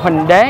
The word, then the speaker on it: Bình Đế: Phát âm đúng là cua Bình Đế nha. Còn con cua Hòn Đế là cái con cua ở nước ngoài khác nữa.